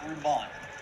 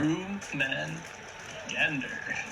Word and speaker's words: Rumengander: It's Room Man Gander. Room man gander. Okay. Yeah. Rumengander. Room man gander. Gotcha. Okay. Perfect. Like Jormungandr, but room.